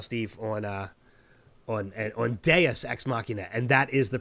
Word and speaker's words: Deus: for that voicemail, Steve, on uh on on deas xmachina. And that is the proper pronunciation. We've been saying deuce and it's it's it is deas.